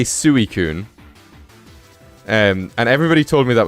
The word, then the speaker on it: Suicune: And then people are like, oh no, you say it like Suicune. Like sweet. Did we not just have a region called Hisui? Sui.